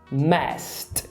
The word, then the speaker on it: messed: Na pronúncia é um T. Então é como se a gente falasse... Não, é como se a gente falasse não. É como a gente fala messed.